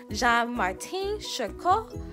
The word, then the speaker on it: Jean-Martin Charcot: me but I think is his name is pronounced jean-martin charcot and he was and he was the person